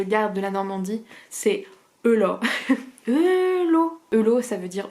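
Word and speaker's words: heula: de la Normandie, c'est Eula. Eula. Eula, ça veut dire oh la vache en normand. Ça s'écrit Eula, H-E-U-L-A, mais ça se prononce Eula, parce que le A se prononce O.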